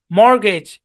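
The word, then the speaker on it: mortgage: আচ্ছা, আরো যেসব শব্দে টি সাইলেন্ট থাকে, যেমন ক্রিসমাস, মর্গেজ, অ্যাজমা, সফেন, বুফে।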